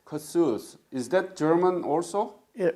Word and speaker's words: Kossuth: So, Kuth, how do you pronounce the county name? Kossuth. Kossuth.